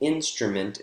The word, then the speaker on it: instrument: we have three syllables the first syllable in instrument is the strongest and it even continues to rise after that word stress try number seven one